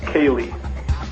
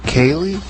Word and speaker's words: Koehli: It's pronounced Kaye. Kaye.